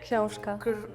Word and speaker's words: Książka: In Poland, we say książka. In Belarus, we say kniha. In Slovak, we say kniha. What happened? What did you say? Książka. It sounds like koshka, like cat.